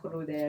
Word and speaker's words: crudel: Cessa crudel. Cessa. Yeah, and if you could roll the R, can you roll your R's?